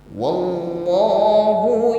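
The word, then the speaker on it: والله: wallahu yashhadu innahum lakun wallah huruf lam tasdid ditekan membacanya namun sifatnya lam ini tawasud Maka jangan sampai tertahan ketika menekan contohnya wah ini kan putus bunyinya ini tidak seharusnya seperti itu dan sifatnya tawasud alirkan bunyi hurufnya wallah Wah ini tetap ada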